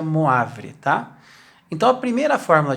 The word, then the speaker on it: Moivre: primeira fórmula de moivre se escreve moivre mas se pronuncia moavile tá então a primeira